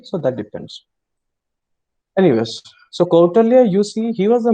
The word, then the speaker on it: Kautilya: jump into outer view sometimes many people pronounce in different way you can pronounce kautilya also quote earlier also okay so that depends anyways so quarterly you see he was